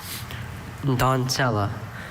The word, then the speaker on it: doncella: Donzella or don'tsella. Doncella. D-O-N-C-E-L-L-A. Doncella? That is correct. Thank you. I think having both pronunciations helped him clear up the Z versus a C.